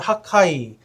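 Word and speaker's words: חגי: 히브리 말로 가면 하카이 이런 식의 이름입니다. 그 크 발음이 들어가는데 하카이라는 이름인데요.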